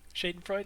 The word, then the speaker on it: Schadenfreude: How do you pronounce it? Schadenfreude? Schadenfreude, yeah.